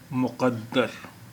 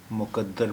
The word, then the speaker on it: मुक़द्दर: मुक़द्दर के उच्चारण या प्रोनाउंसिएशन पर बहुत ध्यान देने की ज़रूरत है, क्योंकि कुछ लोग इसे मुक़द्दर बोलते हैं। मुक़द्दर के माने बिल्कुल ही बदल जाएंगे।